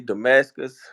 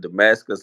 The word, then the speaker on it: Damascus: For Facebook, it's Damascus. So it's spelled, and then Damascus like Paul on the road to Damascus.